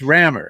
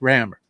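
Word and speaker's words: Rammur: be correcting somebody else no no no it's no it's rammer it's pronounced rammer it's great and it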